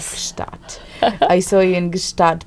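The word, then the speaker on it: Gstaad: Gustat.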